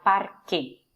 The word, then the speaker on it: parque: Voy al parque. Miren la particularidad de parque. Parque. ¿Sí? La C suena K, K, Q.